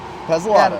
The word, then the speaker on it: Pezzolato: And I am here with Casey, and he's with, is Pezzolato, is that how you say it? Yep, Pezzolato.